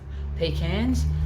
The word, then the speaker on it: pecan: Now, I'm aware that here in Australia we say it a little bit differently to how you say it in America, but everybody knows what I mean. So there we go. How do they say it in America? Pecan? We say pecans.